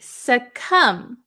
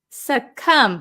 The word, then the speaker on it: succumb: so uh let's see succumb succumb remember the silent B we don't pronounce it succumb succumb is a verb